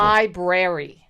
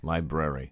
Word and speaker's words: library: people mispronounce that word listen i know i mispronounced stuff 85 of the people library library right and it's attorneys general not attorney general